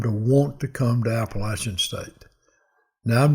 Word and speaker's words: Appalachian: Little room when they hired me here and made me learn how to pronounce Appalachian State. And how did you say it? Appalachian.